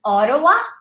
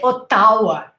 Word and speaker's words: Ottawa: have difficulty pronouncing the capital of canada is ottawa or we don't say otawa right ottowa or ottawa vancouver i lived in vancouver